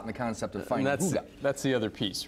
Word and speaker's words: Hygge: Hygge. Yeah, it's Danish, so it doesn't. Don't try and do it phonetically.